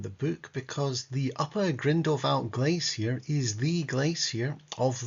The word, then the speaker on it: Grindelwald: Anyway, what we're looking at really is the Grindelwald, as it's pronounced in German, and I'm sticking with it so as not to get busted.